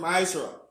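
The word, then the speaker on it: מעשר: It means tenth in the Hebrew and it's pronounced ma'ashra.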